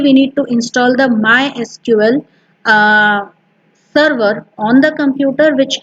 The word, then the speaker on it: MySQL: Officially, it is pronounced as MySQL, but many a times people say MySQL also.